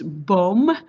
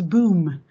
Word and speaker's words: Boom: you pronounce my name my name is bom and and and everybody in uh outside the netherlands says boom it's boom you say it after uh in a german way but it's boom and